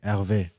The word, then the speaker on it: Ervé: Is that how you pronounce Hervé? Hervé.